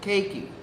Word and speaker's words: Keiki: It's Keiki. You know, cake that you eat, key that you turn, put it together. Keiki.